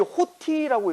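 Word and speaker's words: ὅτι: 이게 호티라고 읽어요. 호티.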